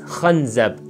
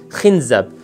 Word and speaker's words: khanzab: He said, the devil who is doing this attack to us is known as khanzab and can also be pronounced khinzab.